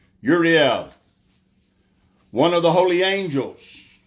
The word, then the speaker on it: Uriel: Uriel, in Hebrew, I think it's more correctly pronounced Uriel.